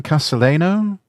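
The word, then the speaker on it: Casalegno: But now that Dunkin Donut Gavin Castileo Gavin Castelleno that's how his name's pronounced.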